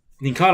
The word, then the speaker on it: Nincada: Nincada, Nincade. No, think about Inkade. Nincada. Nincada, I believe that's how you pronounce the name.